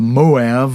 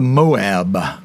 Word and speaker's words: Moav: It's called the Moav Mountains. You could just as easily call it the Moab, as if it were a B, like Bravo Mountains.